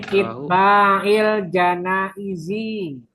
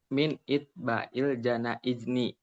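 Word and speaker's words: اتباع الجنائز: wa kunna nunha min innabi il jaiz Min itba'il janaizi. Yang benar bacanya min itba'il janaizni.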